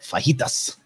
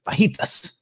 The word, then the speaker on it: fajitas: When I have fajitas, I don't pronounce the J. I'm not a chump. I'm not a rookie. It's not fajitas.